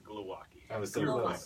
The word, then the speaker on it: Glowacki: Because it's apparently pronounced Glowacki. It's actually pronounced Glowacki.